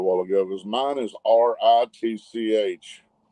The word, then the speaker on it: Ritch: ago, because mine is RITCH. It's Big Dad Rich. It's RITCH. It probably got auto-corrected. So we'll fix it. RITCH, it rhymes with your mother-in-law.